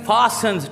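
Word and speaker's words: fastens: एज इट फास्टन्स, T silent है यहाँ पे, ब्रिटिश इंग्लिश में फास्टन्स, अमेरिकन इसको टी को बोल जाते हैं फास्टन्स, ठीक है, क्योंकि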